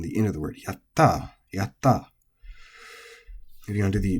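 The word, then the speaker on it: やった: And yaru is also flat, so you might be mispronouncing it if you're trying to celebrate and you say yatta, but it's not, it's yatta, yatta.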